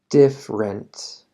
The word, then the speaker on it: different: No digas different de tres sílabas. Mejor decir different de dos sílabas.